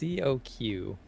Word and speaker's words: coq: into it okay well it's coq but with a french pronunciation croquette that's the only